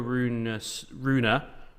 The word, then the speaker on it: Rune: Interesting, the Holger Rune, have to pronounce the E, we now know this, stuff.